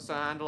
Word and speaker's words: Handel: engine based on Sir Handel. Sir Hayden portraying Sir Handel. I just like to pronounce it how it's actually spelled Stan. It's much easier on my tongue.